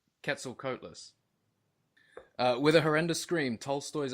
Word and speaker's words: Quetzalcoatlus: Quetzalcoatlus. Quetzalcoatlus.